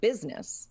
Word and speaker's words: business: about how it's spelled it's the word business because the U is pretending to be an eye and then the actual eye is not doing anything mind your own business